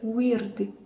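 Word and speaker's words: Wyrd: Weird, porque eles puxam esse R, então acredito que a pronúncia correta seria Weird. E o D não tem o I no final. O brasileiro ele tem mania de colocar o D, colocar sempre uma vogal no final, mas eles não, eles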